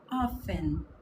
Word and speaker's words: often: E lembrando que a gente não pronuncia esse T. Esse T tá ali só para azucrinar a nossa vida. Often. Como se ele não tivesse.